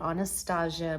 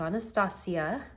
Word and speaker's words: Anastasia: anastasia beverly hills which i recently found out i'm saying it wrong i've called it anastasia my whole life it's anastasia not my whole life but